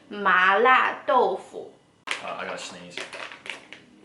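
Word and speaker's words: 豆腐: In Chinese we call tofu doufu. So you can see that the pronunciations are really similar.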